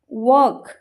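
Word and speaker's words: walk: for example वर्क वर्क हमें लिख के डब्ल्यू ए एल के वर्क बट हमें प्रोनाउंस के करचे वर्क हमें एल को प्रोनाउंस करचे की व्क व्क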